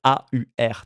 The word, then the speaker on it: AUR: Bien tout simplement parce que j'espère que je le prononce bien, on va dire a U R tel qu'on le dit en français le le parti de de Georg Simon.